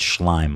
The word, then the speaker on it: Schleim: It's Schleim. Avi Schleim. He was calling him Schleim or something.